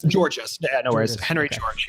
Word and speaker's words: Georgist: How do you pronounce it? Georgist.